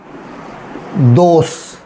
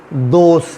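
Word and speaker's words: dos: ठीक है, मिसाल के तौर पे दोस, ये डॉस नहीं है, दोस है।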